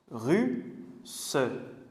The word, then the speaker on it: russe: Ici, le double S, il permet d'être sûr de la prononciation. Parce que vous savez, S, ça peut se prononcer se ou ça peut se prononcer z, comme avec un Z. Sauf que, par exemple, ruse, on va dire z, ruse. Alors pour savoir, pour montrer qu'il faut dire ce, on met deux S comme russe.